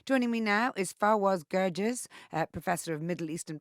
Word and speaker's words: Gerges: IDF soldiers killed joining me now is faras gges uh professor of Middle Eastern politics and international